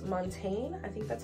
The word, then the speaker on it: Montagne: from a brand called Montaine I think that's how you say it it's m o n t and E I'm assuming the g is silent like champagne Vibes but I think that